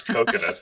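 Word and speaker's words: Kokonotsu: main male like character coconuts yes coconuts that's how his name is pronounced um his father wants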